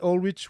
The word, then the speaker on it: Ohlrich: Gunther and Ulrich with the ch pronounced at the Yes.